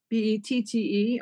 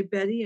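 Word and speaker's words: Bette: see it it's called alphabet bet tte although some people say Betty and I don't care if they buy it I don't care how they say it I love that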